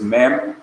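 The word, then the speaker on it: מִי: on the screen but the hebrew is mem followed by yod and the tariq underneath the mem which make the long vowel um long perique pronounced me number three write whom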